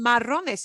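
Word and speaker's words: marrón: This one, marron, breaks the stress rule. The way we pronounce it breaks the rule. And that's why that accent mark has to be written in on the singular form.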